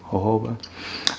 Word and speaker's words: jojoba: that's that oil that looks like jojoba but you know you pronounce it you know like a Latino hoba um and yeah you